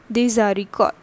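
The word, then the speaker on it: des haricots: Also, this is S over here and H is usually silent, and the next alphabet is actually the vowel. So accordingly, they get connected and the pronunciation become desaricot.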